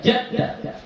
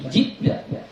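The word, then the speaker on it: جِدَّ: Jadi bacanya jid, bukan jad, ya. Jid, ya. Pada perkataan mana perkataan tadi itu? Inna adzabakal jidda, ya, bukan jadda atau judda, tapi jidda.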